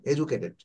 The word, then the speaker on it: educated: এখানে দেখেন একটা শব্দ, ওরা এডুকেটেড, হ্যাঁ, আমরা এডুকেটেড বলি, বাট ব্রিটিশ ইংলিশে এটা এডুকেটেড, ডিটা ওটা জির মতো উচ্চারণ হবে, এডুকেটেড।